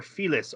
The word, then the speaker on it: Felix: But they pronounce his name in the dub as Felix. So. And sometimes in the sub they do too, and sometimes they pronounce it as Felis, or at least they wrote Felis in the subtitles.